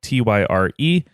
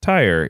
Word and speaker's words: Tyre: it's pronounced Tyr, and you can find people who speak different languages who are saying no, it's pronounced Sur. And there are other people who say Tyrus.